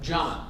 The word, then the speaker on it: Jama: Jama. Just like pajamas, but without the button.